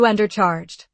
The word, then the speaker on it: undercharged: Stress the first syllable. You undercharged.